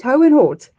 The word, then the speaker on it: Hohenort: You guys rolled out the red carpet when we had the um the privilege of visiting Hoehn Hott. Am I saying it right? Hoehn Hott?